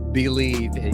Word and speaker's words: Bleav: Bleav.